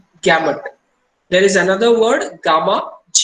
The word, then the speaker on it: gamut: Pronounce gamut and gamma almost कई बार लोग misinterpret कर जाते हैं gamut and gamma को, इसीलिए to be specific U पे बहुत स्ट्रेस किया जाता है इस पे.